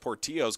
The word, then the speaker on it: Portillo: also number 3 Joshua Portillo as it is pronounced poor Tio's coach Tom told me